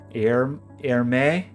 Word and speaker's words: Hermite: um I'm familiar with hermite curves am I saying that name correctly you never can't tell it's mathematicians how do you say it air air May he's French can I hear it